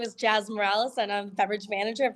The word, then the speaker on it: Moralez: Moralez is how I pronounce it.